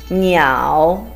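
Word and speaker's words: niǎo: Next one is a combination of n and yao with a third tone. Niao. N iao, niao.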